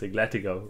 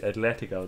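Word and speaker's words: Atlético: atleti porto and liverpool sorry i didn't pronounce igletico right atletico there it's all good and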